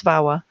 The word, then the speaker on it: VAWA: This brief tutorial will take a high-level look at the Violence Against Women Act, known and pronounced as VAWA, and how it relates to federal funds.